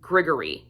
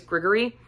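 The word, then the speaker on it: Grigory: his best friend and I believe you pronounce his name Gregory it's g-r-i-g-o-r-y I don't believe it's Gregory I think it's Gregory I'm not 100 sure on that one so um but Marcus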